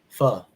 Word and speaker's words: pho: Is it like Oh, there's so many places out here, and it's like the last time I treated him to pho, or it's spelled PHO.